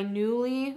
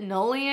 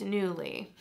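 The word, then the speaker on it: Nuuly: I've been really back into my Newly, which is, that's how you say it. I always called it Nully, I think, before, but it's Newly. Okay, anyway, if you guys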